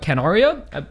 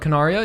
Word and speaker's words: Canaria: So as well as the ending theme was Rendezvous by Canaria. I pronounced that wrong, but Canaria.